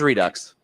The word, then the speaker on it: Redux: It was redux. It's Redux. So possibly a media redux.